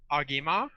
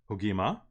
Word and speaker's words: Ogimaa: It is actually pronounced Ogimaa. Ogimaa.